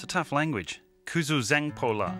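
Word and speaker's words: Kuzuzangpo La: Kuzoo Zangpo La, five syllables just to say hello. Fortunately, they spoke a bit of English.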